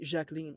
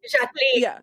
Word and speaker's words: Jacqueline: I mean, if you say it correctly, Jacqueline, but like Jacqueline, French.